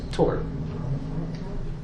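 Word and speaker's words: Tours: what is today France because it's a French word you don't pronounce the S it's just Tor so that's a good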